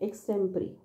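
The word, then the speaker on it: extempore: तो याद रखो कि ये जो लास्ट वाला वर्ड है ई, इट्स नॉट ए की मात्रा, इट्स जस्ट 3, है ना, आई का साउंड, एक्सटेम्परी, राइट, जिसका मतलब होता है स्पॉन्टेनियस, विदाउट प्रिपरेशन, राइट, या इम्प्रॉम्प्चू।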